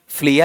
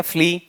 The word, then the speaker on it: flea: ठीक है, लेकिन एग्जाम्पल किस चीज का वहां पर दे देता, बताओ उसे क्या कहा जाता है, फ्लिया या फ्ली, फ्ली बोला जाता है।